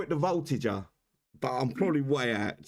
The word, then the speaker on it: Voltigeur: I want to call it the Voltigeur, but I'm probably way out. Someone pronounce that correctly if you can. Voltigeur.